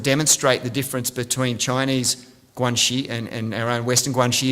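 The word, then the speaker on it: 关系: So just if you could repeat after me together, guanxi.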